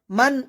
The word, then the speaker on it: من: ইয়ালামু ইয়া এখানে আইনের উচ্চারণ আমরা সবাই ভালোভাবে উচ্চারণ করব ইয়ালামু মান খলাক মান এখানে নুন সাকিন গুণনা হবে না কারণ এখানে